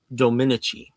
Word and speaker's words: Dominici: the actress's name, and he says it's pronounced Dominici. So Eva Dominici, I suppose, is the way you pronounce her name.